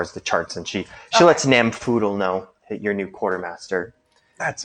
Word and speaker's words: Namfoodle: How do you spell that, by the way? NAM, Yes. and then like poodle, but with an F. Oh, Namfoodle. Namfoodle. I thought it had a G. I thought there was a silent G for some reason.